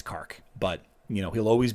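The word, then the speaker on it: K'arkh: it but of course now we all know it's it's Clark it's not Kirk age it's not her och it's not car or car or Kraken it's it's Clark but you know he'll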